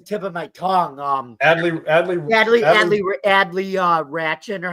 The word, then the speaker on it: Rutschman: Adley Ratchin, or how do you say it? Adley Rutschman, and then Adley Rutschman, yeah.